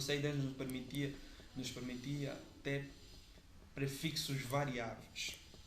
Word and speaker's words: CIDR: Nós temos, por exemplo, o CIDR, que está aqui como é pronunciado, CIDR.